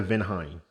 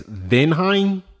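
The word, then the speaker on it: Weinman: with a W, but they pronounced their W's like V's. So I think it's Venheim, but if I'm wrong, please correct me.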